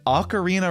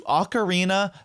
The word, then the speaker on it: ocarina: own languages pronunciation rules, it sounds like it should be ocarina in English because we do have the vowel sound o in English.